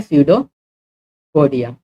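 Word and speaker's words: pseudopodia: स्यूडोपोडिया क्या है, अगर मैं स्यूडोपोडिया की बात करूँ, इसमें पी साइलेंट होता है, ठीक है, पी साइलेंट होता है, ऐसे शुरू होता है स्यूडोपोडिया।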